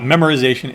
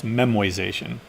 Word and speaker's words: memoization: No, I'm not mispronouncing that. That's called it's not memorization, it's memoization. Right?